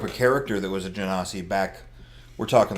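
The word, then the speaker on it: genasi: I'm gonna pronounce it Genesee because they're from jinn or genies Oh how do other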